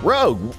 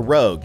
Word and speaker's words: Rouge: say to her also I'm gonna keep calling her Rogue even though it might actually be pronounced Rouge don't care we visited